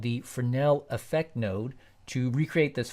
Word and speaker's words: Fresnel: and E L and don't forget the silent s it's French select the Fornell effect